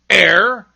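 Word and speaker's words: heir: o u r hour other words that begin with silent h are honor air and honest and i know of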